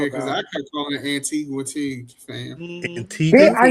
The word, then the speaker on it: Antigua: my whole life I was calling it Antigua. Oh no, it's Antigua. That U is silent.